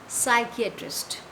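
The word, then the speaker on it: psychiatrist: P silent है इधर, हम इसको क्या प्रोनाउंस करेंगे? साइकियाट्रिस्ट.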